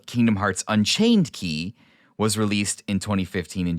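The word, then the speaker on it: Kingdom Hearts χ: hearts with an X pronounced key or Kai or Chi as in the Greek letter but we're going to call it key because obviously keyblade the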